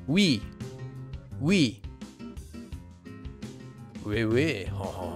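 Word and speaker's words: 외: sounds o and e, it's actually a combination of the sounds o and e. Oe, oe. It's pronounced as we, we. You can pronounce this diphthong and the previous diphthong in the same way.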